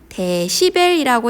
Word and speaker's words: 데시벨: 네, 층간소음, 이렇게 소음 측정기에서 주로 볼 수 있는데 소문자 D, 대문자 B, 이렇게 dB라고 쓰고 읽을 때는 데시벨이라고 읽는 이 단위를 통해서 소리의 크기가 얼마나 큰지 작은지 나타낼 수 있습니다.